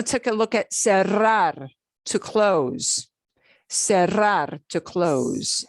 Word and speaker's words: cerrar: take a look at cerrar to close cerrar to close okay uh yay only two syllables so uh becomes yeah you can't say it as cerro nobody will know what you're talking about sierra sierra okay right